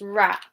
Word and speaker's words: wrap: So it's rap, rap. W is before R, yeah. So when we have WR at the beginning, then the W is often silent.